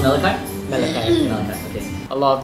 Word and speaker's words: Malachai: So it's pronounced Malachai? Malachai.